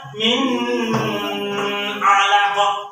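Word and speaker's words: مِنْ عَلَقٍ: Nggak boleh dibaca min alaqah. Tidak boleh. Bacanya harus jelas.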